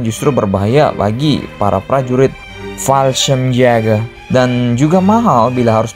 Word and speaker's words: Fallschirmjäger: Luftwaffe pun kemudian menunjuk unit pasukan khusus penerjun payung mereka, yaitu Fallschirmjäger, atau bacanya Fallschirmjäger, untuk menaklukkan pasukan di